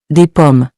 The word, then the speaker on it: des pommes: Remember, most of the time, the S at the end of plural nouns is silent, So, des pommes is pronounced as des pommes, not des pommes.